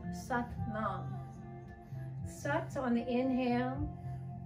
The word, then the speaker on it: Sat: Sat, it rhymes with but.